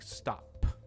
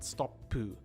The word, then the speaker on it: stop: of certain words, like stop, right? It's stop, not stoppu.